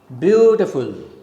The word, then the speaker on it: beautiful: Beautiful, 3 syllables. Okay, so it's a falling rhythm. Beau, the first syllable is stressed, it is a strong syllable. T and full are weak syllables, so you go down from upside.